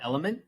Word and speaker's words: LMNT: it's it's pretty good it's called element some people pronounce an element but the actual name of the company is l m n t okay so they're they're